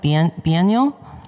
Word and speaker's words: Biennial: Is that, how do you pronounce that? Biennial?